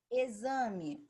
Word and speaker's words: exame: Exame se escreve com X e tem som de Z.